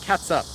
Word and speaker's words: ketchup: sounds like, oh yeah, some people do say it like catsup. Like I said, I don't say that way, but I've heard people use that before. It's also an accepted pronunciation of ketchup.